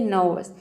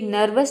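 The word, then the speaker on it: nervous: है next word है देखिए नवस ये नर्वस नहीं होता है कई स्टूडेंट इसको बोल देते हैं नर्वस नर्वस नहीं होता है यह होता है नर्वस इसमें भी आपको क्या समझना है ई आर साइलेंट है और यहां पे जो ओ यू है ये भी साइलेंट है केवल आपको एन व और एस इन तीन लेटर को मान लीजिए कि आपको प्रोनाउंस करना है नवस तो यहां तक तो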